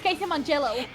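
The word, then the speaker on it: Casey Mongillo: English voice to be Casey mongalo mongalo I don't know how to say it Cas no it's casy mongello is is that the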